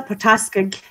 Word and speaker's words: Port Askaig: So if you live in Islay, Port Askaig. Port Askaig. Oh, my gosh. Of course it is. Chanel's on the move. I'm charging. Port Askaig. Port Askaig is probably.